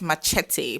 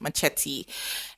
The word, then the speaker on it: machete: it machete or machete I think it's a Spanish word so that word should be pronounced as machete but we call it it machete and if you a Nigerian person you call it machet oh my God I'm